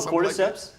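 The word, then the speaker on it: cordyceps: I don't know how to pronounce this word, but I think it's orcortisps. Oh, cortiseps.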